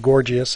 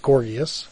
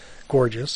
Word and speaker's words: Gorgias: I went all through college saying Gorgias, and then one of my professors pointed out to me that it's pronounced Gorgias, but you will still hear people say Gorgias from time to time.